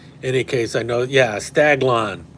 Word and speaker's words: Staglon: case I know yeah staglon not stag Alon staglon St a g l n thank you uh bdh thank you spider heill yeah staglon um by shade this